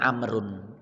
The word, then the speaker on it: Amr: ep2 nenek Uten wawu kalau pakai wawu bacanya amrun Amr Abdullah bin Amr putranya